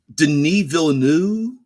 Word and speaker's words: Denis Villeneuve: But Denis Villeneuve, I believe is how you pronounce the director's name, has a ton of